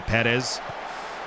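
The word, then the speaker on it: Pérez: love elio and perez or sorry perez uh they're got the accent on the first e you know i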